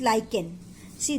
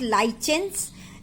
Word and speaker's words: lichen: Another example is lichen. See, the pronunciation is not lichens, it's lichen. Okay, lichen.